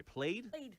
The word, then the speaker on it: plaid: And I like how you called it, it's not plaid. You pronounced it a different way. Played.